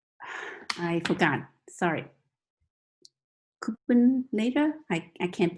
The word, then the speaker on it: Kubernetes: Kubernetes, I can't pronounce that properly, so. Kubernetes?